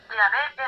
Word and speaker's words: Yahvé: Es decir, que la pronunciación Jehová es una pronunciación defectuosa del nombre de Yahé.